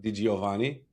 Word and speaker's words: DiGiovanni: I'm your host, Lean Yahav, and with me today is Diovani. Did I pronounce it good?